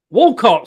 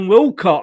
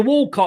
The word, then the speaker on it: Walcott: a young arsenal player walcott sorry sorry it's that northern accent you've picked up you see i thought you're saying wilcott i don't know like